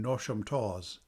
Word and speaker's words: Knotacentinum Towers: and around Knotacentinum Towers, pronounced as if written Nosham Taws, the seat of Lord Knottacent, pronounced as if written Nosh.